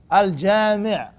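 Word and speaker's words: الجامع: Al-Jami' rhymes with what word? Sami'.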